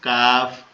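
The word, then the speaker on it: كاف: কাফ আমরা পড়ি যে মধ্যখান পেঁচানো তার নাম কাফ কাফ এটা কোথা থেকে উচ্চারণ হবে আমাদের আমাদের জিউবার গোড়া হতে একটু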